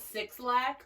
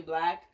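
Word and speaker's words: 6lack: It's spelled Six Lack, but it's actually Black.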